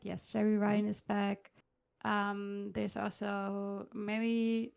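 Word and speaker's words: Jeri Ryan: Yes, Jerry Ryan is back.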